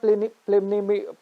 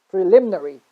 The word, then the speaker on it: preliminary: It's not preliminary, it's preliminary. Sorry, it's very confusing, R and L, but you get my point, right?